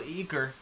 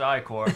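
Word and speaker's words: ichor: can fill it with magical eer that's pronounced iore oh dang choose your ey core wisely uh health and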